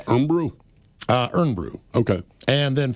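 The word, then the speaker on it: Irn-Bru: Imbrew, the stuff you were talking about, Ted, the Scottish one, is Iron Brew. And Earn is pronounced kind of like Earn. And they have great commercials, the guy says. So it's Earn Brew?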